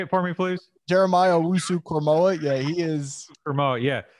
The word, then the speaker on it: Jeremiah Owusu-Koramoah: I think, is I'm going to say his name wrong, the Notre Dame linebacker, Asamu. Say it for me, please. Jeremiah Owusu-Koramoah.